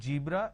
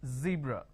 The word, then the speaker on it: zebra: Now, what people make a mistake is they replace the z with a j. So what they do is they pronounce this as zebra, John, Jeel. So please don't make a mistake. The moment you replace the z with a j, it's a mispronunciation. It's not zebra, it's zebra.